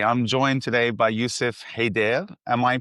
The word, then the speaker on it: Haidar: Okay, I'm joined today by Youssef Haidar. Am I pronouncing that remotely correctly? Quite close. Haidar. Haidar.